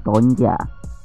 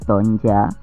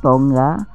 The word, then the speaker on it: Tonga: Polinesia Pusat di tangan nama Ini diucapkan dengan tonja dan umumnya diucapkan sebagai tonja atau tonggak dalam bahasa Inggris mata uang negara Tonga